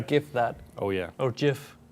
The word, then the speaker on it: GIF: oh yeah or jiff would you say gif or jeff uh i say gif yeah me too but apparently the creator of gifs says that it wasn't supposed to be jif well let's spell it with a j it's the same